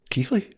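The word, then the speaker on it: Keighley: It was meant to happen and this place uh Ke Keithley Keithley. Yeah, you spell it nothing like that and I don't I don't even uh I didn't even really know this place existed to be honest.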